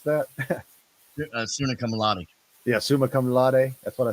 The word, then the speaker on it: summa cum laude: Is that how you pronounce that? Suna cum laude. Yeah, summa cum laude.